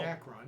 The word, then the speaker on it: Dacron: Dacron. Yeah, you pronounced it right.